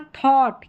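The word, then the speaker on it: thought: और यहाँ पर थॉट, क्या हो रहा है, थॉट, अ करके उच्चारण, लास्ट में टी है तो टी का उच्चारण ट है।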